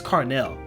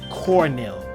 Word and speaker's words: Carnell: But they came up because my name is Carnell, right? My real name is Carnell, and people will always pronounce my name wrong. They'd be like Cornell, or I don't know, Cornelius.